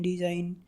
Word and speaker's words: design: Word এর শেষে যদি IGN থাকে তাহলে তার উচ্চারণ আইন এরকম হয়। এক্ষেত্রে জি এর উচ্চারণটি সাইলেন্ট থাকে, অর্থাৎ সেটি অনুচ্চারিত থাকে, উচ্চারণ হয় না। যেমন DESIGN ডিজাইন, রিজাইন, রেইন, ফেইন।